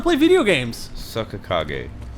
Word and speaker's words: Kage: Well, how about you don't cage me, Greg?